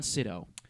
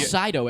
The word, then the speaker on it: Sydow: Boyega, Daisy Ridley, Adam Driver, Oscar Isaac, Andy Serkis, Domhnall Gleeson, I think that's how you pronounce it, Yep. and Max von Sydow. I'm hearing Wow. Sydow everywhere, This- but I'm pretty Wow.